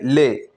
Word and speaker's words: les: पे क्या यूज होगा ले एल इ एस इसको क्या प्रोनाउंस करेंगे ले यह वहां पर यूज़ होता